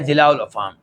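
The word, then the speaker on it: جِلاء الأفهام: جلاء الافہام کتاب کا نام جلاء ہے، یعنی کہ جیم کے کسرہ کے ساتھ۔ بسا اوقات مشائخ کے منہ سے نکلتا ہے جلاء الافہام، شاید کبھی میرے منہ سے بھی نکل جائے، لیکن صحیح تلفظ کیا ہے، راجع کیا ہے؟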